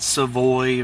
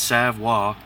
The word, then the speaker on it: Savoy: of artwork this is a sidewall leather not savoie or Savoye it's savoir if anybody follows hockey it's just like Patrick